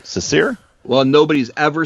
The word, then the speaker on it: Cecere: Cecere? Well, nobody's ever said it right, so I forgive you. It's Cecere, but that's fine.